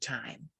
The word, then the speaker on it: Thyme: I said, your name is pronounced Thyme. And you were like, yes, you got it right. And I'm like, well, if you cook and if you're a connoisseur, thyme is a spice, it's an herb.